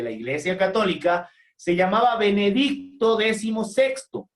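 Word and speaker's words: Benedicto XVI: benedicto 16 los que decían benedicto 16 lo decían de forma errónea en la fonética se dice benedicto decimosexto porque es la decimosexta persona que toma ese nombre atentos por favor no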